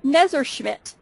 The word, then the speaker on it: Messerschmidt: It's Messerschmidt. Messerschmidt. I almost got it right.